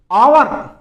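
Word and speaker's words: hour: अब इसमें H silent रहता है। आपको यहीं से बोलना है आवर। बहुत से देखते हैं आगे एच आ रहा है। कैसे बोले? लेकिन उसको आवर बोलना है या एच साइलेंट रहेगा।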